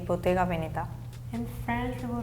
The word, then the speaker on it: Bottega Veneta: I'm from North Italy, so I pronounce this as Bottega Veneta. Even though some people might pronounce it as Bottega Veneta, but not me.